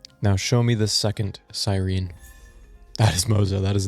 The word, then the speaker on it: Cyrene: Also, I know her name is Sirene, but ain't no way I'm calling her that. That sounds ridiculous. What a stupid pronunciation.